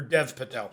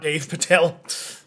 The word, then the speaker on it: Dev Patel: Dave Patel. Or Dev Patel. Not Dave Patel.